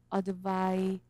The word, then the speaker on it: advise: 그때는 advise라고 해요. 약간 z 발음이 나죠.